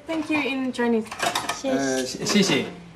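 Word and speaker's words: 谢谢: Xie xie. Xie xie?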